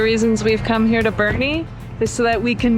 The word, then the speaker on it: Boerne: a German name and I swear that the E would be silent if he pronounced it in German but I don't know